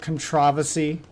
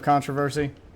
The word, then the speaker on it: controversy: one who gets bothered when someone pronounces it controversy instead of controversy. Is it just me? Like, is that the British way to say it?